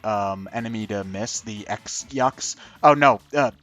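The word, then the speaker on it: X-Yux: enemy to miss the X Yu oh no uh she just said it's pronounced the cross Yu yeah whatever it's it's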